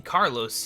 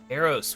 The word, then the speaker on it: Karos: Why, Thok was just telling Carlos here about how much Thok missed you. Karos, we've been over this, Thok. Karos. I think that means I'm saying it correctly.